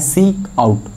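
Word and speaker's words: cout: next क्या है, next फोर्थ line में क्या है, फोर्थ लाइन क्या कह रहा है, सी आउट, सी आउट को हम लोग इट is generally pronounce as सी आउट, okay, सी आउट, एंड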